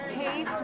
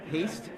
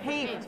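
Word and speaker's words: Hoeft: How's it Phonetically, Deester. Deester, Haft with a long A. Haste? Okay. Haft. The long A. Thank you.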